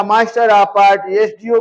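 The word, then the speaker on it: SDO: लेकिन जब हम लिखेंगे इसका प्रोनंसिएशन इस तरह से होगा एस प यह आ रहा है इस लिए जो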